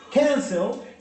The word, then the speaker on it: cancel: Cancel es un verbo grave, porque la mayor fuerza de voz está en la penúltima sílaba y no en la última.